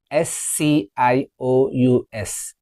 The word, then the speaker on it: conscious: The next one, CONSCIOUS.